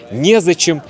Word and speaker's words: незачем: Ударение обычно падает на е. Некогда, негде, не с кем, незачем.